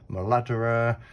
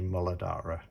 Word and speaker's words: Muladhara: my way up and i have heard it pronounced in a myriad of ways moladdera um yeah all different kind of variations but um the person who i learned from would refer to it as the molodara so that would be